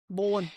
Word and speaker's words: Bolan: Chrome Satar Mark Bolan, is that how you pronounce it? Bolan Bolan.